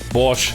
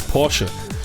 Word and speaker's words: Porsche: We will pronounce everything in the American way." Porsche. Borch. Russian. Russian. Borch. It's Porsche.